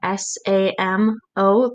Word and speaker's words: SAMO: one of his friends called samo s-a-m-o pronounced samo his three pieces of